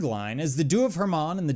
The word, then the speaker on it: Hermon: judgment the dues of Hermon often mispronounced as Herman refers to Mount Hermon